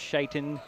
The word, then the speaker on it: Shaiton: And it will be the starters there is Brennan, Weaver, Bell, Shitton. And we are pretty sure it's Shaiton as Jerry talked with the young man before the game to get the pronunciation.